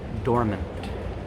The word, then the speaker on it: dormant: please repeat after me dormant dormant make sure you pronounce the in and the T at the end of the word dormant dormant you don't